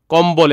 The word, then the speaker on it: কম্বল: কম্বল এখানে দেখো উচ্চারণ হইছে।